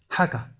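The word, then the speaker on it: הגה: 하가 이게 묵상이라는 히브리어 원어의 발음 발음입니다. 하가 이게 무슨 말이냐?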